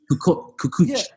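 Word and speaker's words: Kukoč: Are we pronouncing it right? Kukoc.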